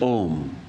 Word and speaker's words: Om: The universal mantra, the first mantra, is Om. And Om is said to have four quarters. The akara, the ukara, the second letter, u, the makara, the m, the m sound at the end, and then the fourth is silence.